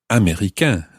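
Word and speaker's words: américains: the masculine singular so america becomes america of course it sounds the same but there's an s on the end the ending goes a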